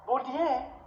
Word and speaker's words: Bourdieu: So, Bourdieu, the name is B-O, it's a French name. B-O-U, okay? B-O-U-R, okay? B-O-U-R-D-I-E-U. Bourdieu. It is pronounced as Bourdieu.